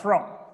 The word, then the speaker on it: from: आ रहा है, from, ये from नहीं, ओ नहीं बोलना, ओ है शब्द ये, from, ओ बोलते हैं, ओ का यह उच्चारण अ है, ये वाला साउंड जो ऊपर मैंने सबसे इंग्लिश के नीचे लिखा, अ, from।